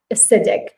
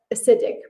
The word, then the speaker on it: acidic: and that's the pronunciation acidic so like the first sound there's a schwa sound acidic okay so that's so